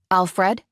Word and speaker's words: Alfred: was his phone anyway Alfred I said relieved that I managed to put the accent on the second vowel the Albanian way I'm sorry for being